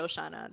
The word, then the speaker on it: Shoshana: Like Shoshana, not only is it spelled phonetically correct, like there's no like magical G in there that's like, you know what I mean? It's Like, very straightforward. It's Shoshana. That's spelled like how it's like it sounds how it's spelled.